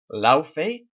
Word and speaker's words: Laufey: His name is, I think it's pronounced Laufey, but whenever I hear it, I just hear Luffy.